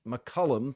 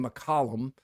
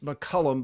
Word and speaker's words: McCollum: we have learned that he prefers it be pronounced McCullum thank you Chad litico for that who actually asked I was saying McCollum some were saying saying McCullum I heard even a few McCullum but it is McCullum by his preference so that's what we'll go